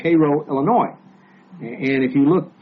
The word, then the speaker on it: Cairo: things come down, but in Egypt it's Cairo, but in Illinois it's Cairo. Spelled the same though. They can, if you go there and you ask directions to Cairo, Illinois, they know you ain't from around there.